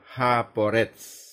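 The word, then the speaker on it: הפורץ: Ejaan Ibraninya He, Pe, Vav, Res, Sadi. Jadi ada 5 huruf dan dibaca Haporetz.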